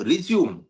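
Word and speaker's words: résumé: बात कर रहे हैं, उसकी प्रोनाउंसिएशन रिज्यूमे होती है। हाँ मानता हूं स्पेलिंग सेम होती है, मानता हूं RESUME होती है, पर वो रिज्यूम नहीं होता, वो रिज्यूमे होता है।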